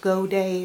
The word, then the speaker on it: godet: g.o.d ET it's pronounced go day but it's a French word good day and anyway